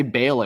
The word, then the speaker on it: Baal: Do you guys say Baal or Baal?